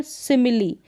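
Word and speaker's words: simile: है और यहां पर सिमिली यहां पर भी सिमिली लास्ट में ई है और ई का उच्चारण हो रहा है तो यहां पर इ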